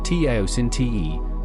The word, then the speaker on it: teosinte: the plant's domestication from its grassy relative, teosinte, pronounced teosinte, to the single-stalked, large-eared plant we know today.